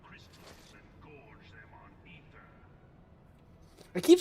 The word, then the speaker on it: Aether: So that's why I've always said Aether, but these guys always say Ether. So it's like, which is the fucking correct way? The A is silent.